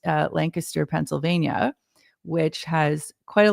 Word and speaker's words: Lancaster: And I know that is how it's pronounced, Lancaster, Pennsylvania, which has quite